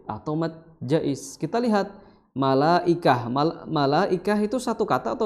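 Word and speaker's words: ملائكة: Ya, jadi illa malaikah, ya, malaikah. Ya, maka di sini mad wajib apapun toriknya, ya, di Hafsan Asim, maka dibacanya harus 4 atau 5, ya.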